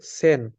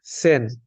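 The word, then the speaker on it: zehn: যেটাকে ডয়েসে আমরা বলবো সেন এখানে জেড আছে আমরা জানি জেড এর উচ্চারণটা এস এর মতন হবে অনেকটা এস এর মতন উচ্চারণ হবে এখানে টেন কে আমরা বলবো হচ্ছে সেন এই যে আমরা এখানে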